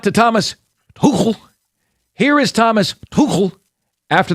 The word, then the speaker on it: Thomas Tuchel: Tomas, it's a guttural CH. Thomas Tuchel.